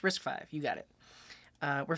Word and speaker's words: RISC-V: Pronounced RISC-V.